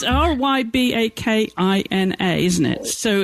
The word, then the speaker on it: Rybakina: well, there's a lot we could say about this young lady, Elena Rybakina, who actually won that Wimbledon final in 3 sets against Tunisia's Jabeur.